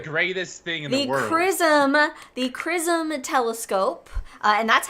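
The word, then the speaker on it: XRISM: thing in prism the chrism telescope uh and that's how it's pronounced it's spelled x-r-i-s-m which stands for x-ray Imaging and spectroscopy Mission but pronounced chrism I'm really glad you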